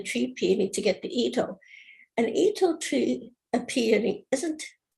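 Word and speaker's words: Itoh: So Sandy, is the loath a lot better than the standard herbaceous peony? That's Ito, I think, not loath. Oh, Ito. I'm terribly sorry. L-O-T-H is the way it's spelled? I-T-O-H. Ito.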